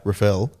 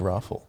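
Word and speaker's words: Raffel: So you need a breath after the excitement of Kanishka Rafael, the Bish. I think it's Raffle. Raffle. I think so. Oh, Pronounce it.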